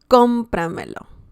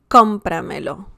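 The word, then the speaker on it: cómpramelo: the next one is compra melo compramelo okay so we see or we can hear some punch there compra melo okay some stress uh compra melo buy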